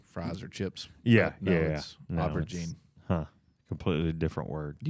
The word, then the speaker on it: aubergine: chips or is it like I'll let you pronounce this word um I'd rather not Albert Jean aubergine okay u-b-e-r-g-i-n-e yeah that's interesting I'd like to